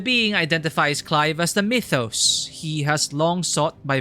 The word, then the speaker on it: Mythos: guess Mordred and Arthur Mythos and for some reason people pronounce people here pronouncing itos or something I don't know if it's just their accent or if that's really another way of pronouncing Mythos the name by which